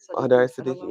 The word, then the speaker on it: Hodari-Sadiki: Hodari-Sadiki?